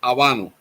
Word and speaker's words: habano: In Spanish we say we call it aano.